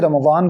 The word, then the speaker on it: رمضان: کے ساتھ پڑھتے ہیں، جیسے کچھ لوگ ضاد کا تلفظ دال کے ساتھ کرتے ہیں جو کہ درست نہیں ہے. میں نے بتایا ہر حرف کا الگ معنی ہے، اس وجہ سے رمضان کو رمضان دال کے ساتھ نہیں بول سکتے، رضوان کو